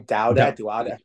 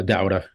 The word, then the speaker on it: Dauda: Dauda. Yeah, Dauda. Dauda.